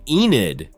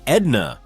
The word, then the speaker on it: Enid: It all started with his unique and utterly endearing pronunciation of the name Enid. He says it with such a thick distinctive accent that it sounds more like Edna or Annit and it absolutely sends